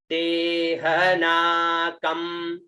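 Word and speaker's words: ते ह नाकम्: उसके बाद में आता है ते ह ना क और आधा म, उच्चारण ते ह ना कम, ते ह ना कम।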